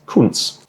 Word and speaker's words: Kuntz: His name is Andreas, and his last name is Kuntz, which is spelt with a C. So it's C-U-N-T-Z.